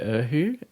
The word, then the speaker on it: erhu: So this is called the erhu. It's spelled ERHU, and it's a 2-stringed fiddle from China.